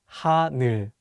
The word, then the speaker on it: 하늘: Many people mispronounce the last syllable as 눌, so be careful. Let's say the word 하늘.